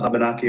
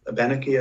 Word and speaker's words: Abenaki: I believe, the Western Abenaki or Sokoko. I don't know if I'm pronouncing the tribal name correctly. Abenaki or Abenaki, I've heard people pronounce that tribe name that way too.